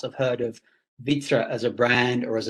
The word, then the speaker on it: Wittra: victor actually stand for well vitra is actually an ancient swedish word which is normally spelt with a v and it has a